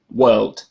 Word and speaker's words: world: Now we go through the first one, and as I just said, if the next sound after R is a consonant sound, then you do not pronounce R and you make previous vowel longer.